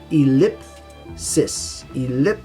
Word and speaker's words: ellipsis: clues so weird okay in pronunciation you have the double l so think of the word lip elip sis sis let's give an